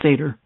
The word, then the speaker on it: seder: bone now represents the lamb and its sacrifice pronounced seder actually fcdr okay they have unleavened bread the